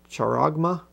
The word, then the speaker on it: charagma: forehead with a mark, the charagma, I guess is how you say that.